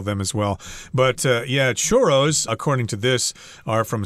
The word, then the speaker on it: churros: if that's the case if they're from Spain or Latin America then you should pronounce this word as churos wow that's a lot of ours uh no I'm just showing off my ability to do the roll R there you don't have